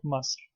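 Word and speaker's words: مصر: would be Mis never miss one and sometimes it's pronounced in modern Arabic mus but the correct pronunciation in classical Arabic is Mis number two the news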